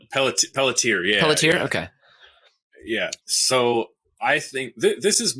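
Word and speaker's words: Peletier: the walking dead uh carol is it peltier maybe is that how you pronounce it pelletier yeah okay yeah so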